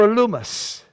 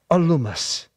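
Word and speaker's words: Elymas: name of bar Jesus or a Loomis I thought it was aliens but I looked up the pronunciation alumus a Jew who was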